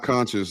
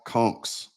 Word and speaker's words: conch: The Key West Conc is one of my favorite new Oh, it's not conscious. Don't say conscious. It's not what you supposed to call it. Kch Conch.